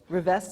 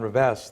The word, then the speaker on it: Rivest: Rivest, is that how you say his name?